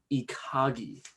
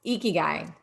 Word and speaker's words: ikigai: japanese word i think it was called ikagi right guy ikigai ikigai yeah there was no way i was getting that thank you and um the the translation the rough translation to ikigai is uh your purpose